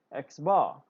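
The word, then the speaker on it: x̄: this is a symbol for the mean alright pronounced X X bar all right so this is sample size let's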